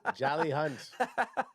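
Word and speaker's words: Jalyx Hunt: you right right I the x is silent it's just jelly jelly jelly jelly hunt jelly hunt jelly hunt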